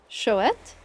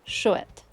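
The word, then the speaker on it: chouette: Ibu for the first one. Ibu and shet.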